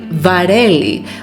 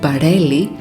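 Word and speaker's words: βαρέλι: they do for example the letter V is that equivalent of the English letter V not B we say varelli which is pronounced as velli not barelli meaning barel also make sure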